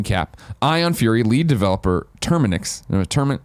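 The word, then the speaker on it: TerminX: In one screen cap, Ion Fury lead developer Terminix, is that how you say it? Terminix? There you go.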